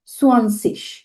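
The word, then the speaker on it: zwanzig: সোয়ানজিশ আমরা কিভাবে উচ্চারণ করবো, মানে সোয়ানজিশ 9 সেনের পরে যে শব্দটা আসে 20 কে ডয়েচে বলা হয় জার্মান গ্রামাটিকে সোয়ানসিশ।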